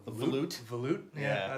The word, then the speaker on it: volute: A volute.